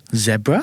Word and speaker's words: zebra: pronunciation than zebra before zebra I have never heard of that really really Yeah, it's very British.